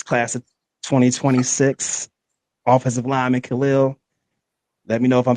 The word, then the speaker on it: Khalil: Um, this class of 2026 offensive lineman Khil, let me know if I'm saying this wrong.